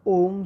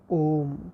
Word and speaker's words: ओम: तो उसमें सबसे पहले ओम कहा जाता है। ओम को अगर मैं अल्फ़ाबेटिकली कहूँ तो AUM, इट्स नॉट ONM, इट्स AUM।